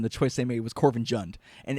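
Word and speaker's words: Korvanjund: Corvinjund, but she says Corvinjund, and it's just kind of like, are you a real Nord if you pronounce it Jund and not Yund like everyone else in the game?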